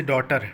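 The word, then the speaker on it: daughter: जैसे डॉटर। डॉटर अगर आप बोलते हैं तो इसमें एच क्या है आपका? साइलेंट है डॉटर एच आ रहा है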